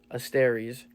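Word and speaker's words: ἀστέρες: So the Greek word for stars, pronunciation asteres, meaning stars, celestial bodies.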